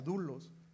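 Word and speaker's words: δοῦλος: eh a Pablo, siervo de Jesucristo, pero esta palabra siervo es una palabra que eh en griego es dulos. Así se pronunciaría, dulos.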